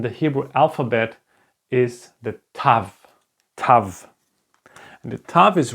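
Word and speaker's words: תו: this one is called Tav Tav okay Tav like in the first part if you can remember we had the Tet and the Tet and the tough have exactly the same pronunciations so let me just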